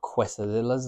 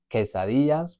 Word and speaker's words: quesadillas: If you've ever eaten quesadillas, they're not quesadillas, they're quesadillas, because we've got the double L and we've got the QU. So with that one, going